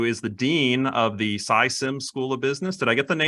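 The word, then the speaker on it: Sy Syms: I'm pleased to have Noam Wasserman, who is the Dean of the SciSims School of Business. Did I get the pronunciation of SciSims right?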